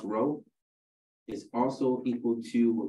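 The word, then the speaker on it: rho: row because you know it's pronounced row is also equal to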